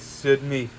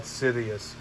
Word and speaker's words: Darth Sidious: too how could darth sidney portrayed him it's pronounced dot sidious as a matter of